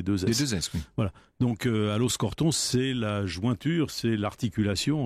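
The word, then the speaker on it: Aloxe-Corton: allons respecter sa volonté il faut partir d'aloxe corton à los alamos au pardon à loos corton ce sens que lorena martin qui prononce tous les os en eau va avoir un peu de mal à faire sa chronique je t aime surtout les x et les x sont des shows dit bruxelles on y bruxelles envoie en bourgogne on prononce pas les x ans le hic c'est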